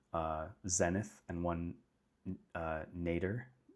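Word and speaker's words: nadir: zenith and one uh nater nater I think is how you say it n a d i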